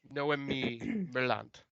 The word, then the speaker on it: Noemi Merlant: Noemi Merlant.